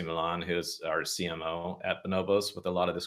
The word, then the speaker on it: Bonobos: that it's you know pronounced bonobos and it's not Bombas the sock company like all these different